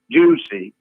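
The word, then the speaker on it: Jussie: a pseudo name that increases pronounced juice a juicy and he's now saying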